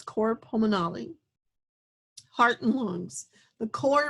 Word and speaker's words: cor pulmonale: to the next topic i've heard this pronounced many different ways but i'm going to say it as core pulmonale heart and lungs the